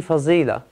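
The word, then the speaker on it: فضيلة: You're thinking of fadila, which you pronounce in Urdu, obviously, fazila, okay?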